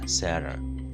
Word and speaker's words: Sarah: In Kenya, we normally pronounce this name as Sarah, but I realize people in the West, or people from the West, pronounce it as Sarah.